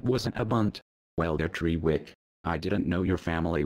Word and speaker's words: Trewick: First of all, it's pronounced Trewick.